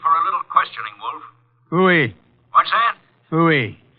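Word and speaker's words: pfui: Fooey. What's that? Fooey. It can be spelled in several ways. I spell it P-F-U-I. Fooey.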